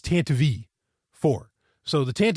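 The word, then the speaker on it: Tantive IV: heard it mentioned in it's not tantive 4 which is what I thought it was always pronounced as it's tant V 4 so the tant V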